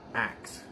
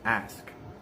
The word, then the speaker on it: ask: that's two different languages it is not act it is ask ask ask ask ask you a